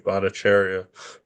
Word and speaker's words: Bhattacharya: But if you look at it, if just looking at Zero Hedge, Jay Bhattacharya, and I know I pronounced that right, Bhattacharya.